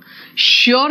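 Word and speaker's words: sure: यस, श्योर का एस H pronunciation होता है बेटा, श्योर जो है ना उसका भी प्रोनाउंसिएशन शू निकलता है ना, आर यू श्योर।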